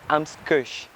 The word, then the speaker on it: AMZ Kush: Donc c'est Ams Kush. Non, c'est Ams Kush. Ams Kush. Yeah, Kush. Tu peux prononcer Kush?